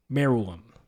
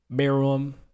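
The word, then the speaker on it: Meruem: opinion in all anime maram I think I pronounced it wrong last week so yeah I did I pronounced it a little wrong pronounce it now but me room was the topic our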